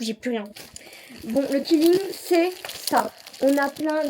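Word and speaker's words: quilling: Bon, le killing, c'est ça.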